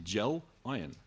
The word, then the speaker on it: Gelion: So the last story is gelion, which people have trouble pronouncing. I thought it was so easy, gel, iron. Yeah, a gel and an iron, gel iron.